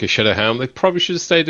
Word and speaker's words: Sceaduhel: Shadowhelm. Shadowhelm. But, it's not spelled at all like that.